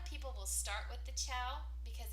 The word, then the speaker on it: Ciao: The next pen is the Ciao. It's spelled C-I-A-O, like the Italian word for hello, goodbye, ciao.